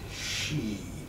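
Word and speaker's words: xi: written in pinyin as X I pronounced like she SH e that she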